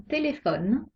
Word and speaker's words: téléphone: un peu leur ordinateur quand la dernière syllabe et muette comme dans téléphone la syllabe le noeud est muette on accentue la syllabe précédents téléphones parlons maintenant des combinaisons